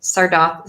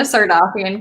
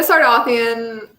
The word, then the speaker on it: Sardothien: my idea from imagining selena sardini sardoc i'm so sorry i hate that i just pronounced that wrong selena sardofian kissing draco malfoy selena sardothien is too much for